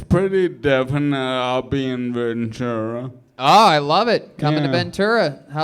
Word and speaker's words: Ventura: And I think they're sold out, but it's pretty definite I'll be in Ventura.